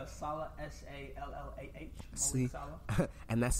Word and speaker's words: Sallah: pronounce your last name for everyone. It's Sallah, S-A-L-L-A-H.